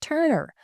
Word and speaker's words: TRNR: The other I'm waiting to receive, and it's spelled TRNR and pronounced Turner.